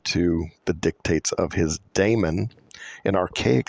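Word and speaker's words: daemon: imagination that's what these Damons do ancient Greek pronounced Damon meaning God Godlike power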